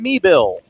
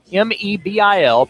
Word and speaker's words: Meebil: Kevin Meebil, Mebil, pronounced Meebil. Meebil, 6 feet, 180, West Palm Beach, as we said, and he has played at FAU and Barry.